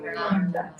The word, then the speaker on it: Kunda: is where put your tongue up, got it, kunda. As the name suggests, and if you listen carefully when the Bengali devotees preach, you can learn, sing, you can learn a lot about pronunciation. Huh? Radha Kunda.